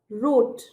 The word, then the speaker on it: wrote: इसका past tense में हो जाएगा रोट, WROTE, रोट। ये वाले शब्दों में W साइलेंट होता है, यानी W की आवाज व करके आवाज नहीं आती।